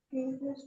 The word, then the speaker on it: curious: Curious to learn English.